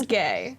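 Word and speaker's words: Gae: this name just saying my name is gay spelled g-a-e but my name is gay um and i'm the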